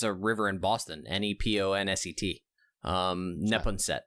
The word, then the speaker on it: Neponset: since you're on the third story of the Neponset River I believe is how you pronounce it um uh Dr Dallin is a